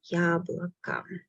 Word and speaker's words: яблоко: Yablaka. Yablaka, I say, because the stress goes on letter Ya. Yablaka. Letters O are not stressed. That's why I pronounce them as A.